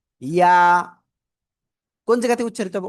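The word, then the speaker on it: ي: ইয়া। কোন জায়গাতে উচ্চারিত হবে? ওই যে জিহ্বার মধ্যখান, উপরে তালুর সাথে লাগাবো, লাগিয়ে সিম্পল একালিফ টেনে উচ্চারণ করব। লেগিয়ে ছেড়ে, লাগিয়ে ছাড়িয়ে ছেড়ে দেবো আমরা। ইয়া ইয়া ইয়া।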